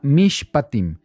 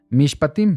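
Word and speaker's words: מִשְׁפָּטִים: y la porción de la semana se llama mishpatim mishpatim se escribe de esta manera ahí lo tenemos en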